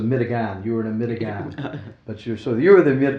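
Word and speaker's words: medigan: was considered and and this was their pronunciation of American it was a mitigan.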